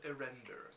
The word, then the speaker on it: Erender: It is called Erender. That is spelled E-R-E-N-D-E-R.